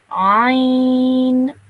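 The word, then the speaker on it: ع: So with this letter, you have to make a bit more of an effort to pronounce this letter correctly, because you have to really pronounce it from the middle of your throat.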